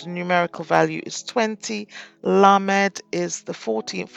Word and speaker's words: lamed: numerical value is 20 lamed is the 14th letter is pronounced as an L as in light numerical value 30 meem